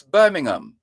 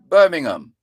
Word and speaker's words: Birmingham: as a teachable moment those names are words that end with h-a-m you don't pronounce the h so you don't go